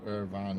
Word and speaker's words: Irvine: Pronounced Irvine as in turbine, yeah. Can't remember where it is, Irvine.